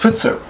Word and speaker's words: 仏: In France's case, it's the Buddha kanji, but it's pronounced futsu.